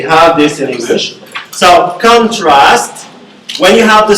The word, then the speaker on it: contrast: So contrast, when you have the stress in the first syllable, it's a noun. And when you have the last syllable, contrast, you mean a verb.